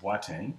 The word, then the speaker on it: Boateng: My name is pronounced Boateng. It is actually Ghanaian in origin, and so it's always